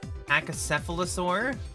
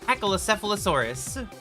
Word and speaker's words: Pachycephalosaurus: Pachycephalosaur? Did I say it right? Pachycephalosaur? Pachycephalosaurus.